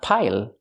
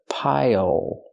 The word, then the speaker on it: pile: a pile of clothes pronunciation not pile but pile use the dark L at the end it changes the vowel pile pile this is a pile